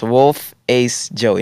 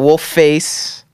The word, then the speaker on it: Wolfacejoeyy: yeah wolf ace joke yes wolf ace joey not wolf face not wolf joey if you can't pronounce